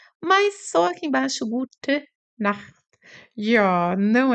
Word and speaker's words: Nacht: Esse ar aqui, essa pronúncia aqui, Gute Nacht, ele sai aqui da garganta. Gute Nacht, sai assim um ar aqui da garganta.